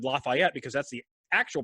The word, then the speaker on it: Lafayette: And notice I said Lafayette because that's the actual pronunciation of the city. Lafayette, because it is a French word, not Lafayette.